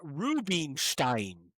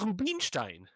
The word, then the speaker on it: Rubenstein: Yeah, but Zelda Rubenstein because I said that's actually because I tried I tried to pronounce it in American English, but in German it would be Rubenstein.